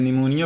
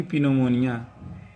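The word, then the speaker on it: pneumonia: तो लिखा है ना, जब किसी वर्ड में पी आया हो और उसके बाद कोई लेटर ना आया हो, तो उनके बीच वाविल ना आया हो, वाविल ना आया हो, तो पी साइलेंट होता है। तो जैसे इसको हम क्या पढ़ते हैं, निमोनिया पढ़ते हैं।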